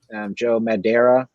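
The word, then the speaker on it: Joe Madureira: Joe Madeira, I believe is how you pronounce that name.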